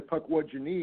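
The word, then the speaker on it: Pukwudginee: Yeah, but it's actually Pukwudgie-nee in the Algonquin. Which is another interesting thing, because the last two syllables are genie, Pukwudgie-nee.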